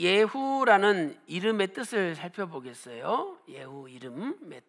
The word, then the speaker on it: 예후: 예후 이름의 뜻. 자, 예후는 히브리어로 이렇게 써요. 예후. 예후. 그래서 한글이랑 히브리어 발음이 똑같은데 예후, 이 예후는 예호바라는